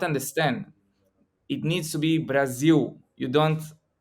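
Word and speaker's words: Brasil: it needs to be Brazil you don't you don't pronounce the L and I was trying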